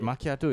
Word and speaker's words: macchiato: to get okay that's just a name but makiato is a proper coffee whatever I don't drink